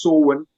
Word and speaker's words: Samhain: And you're quite right, there was a belief, especially amongst the ancient Celts, of Samhain, It's spelled Samhain, but it's pronounced Samhain and Bolton.